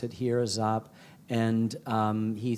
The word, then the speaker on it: Giap: started, led by General Vo Nguyen Giap, not Giap is how we often pronounce it here, Giap.